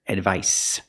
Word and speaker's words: advice: gave him some advice remember the C makes a s sound here advice his father gave him